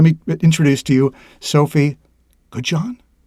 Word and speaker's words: Goodjohn: I tried to give it a French pronunciation. How'd I do? Terrible? Nailed it. Perfect. Nailed it. Okay. I don't put that much French on it. So. Okay. Goodjohn. Like Grey Poupon, right?